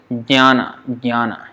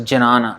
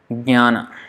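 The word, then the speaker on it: jñāna: So don't pronounce it as jnana, that is completely off. Jnana. Just start with j, jnana. Transition it to nya, jnana. So that n with a tilde on top is nya.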